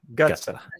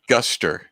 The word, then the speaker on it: gutser: You got to make sure that the T comes first, though. Gutsa. Gutser.